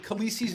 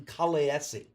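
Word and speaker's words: Khaleesi: Actually, in according to the pronunciation of the language uh that uh the guy from the show, it should be technically Kalesi.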